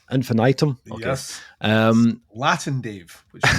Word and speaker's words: infinitum: Is that how you pronounce it? Infinitum? Infinitum.